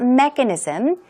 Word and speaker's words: mechanism: get bigger and bigger what about mechanism stress goes right there on this first syllable and some synonyms aren't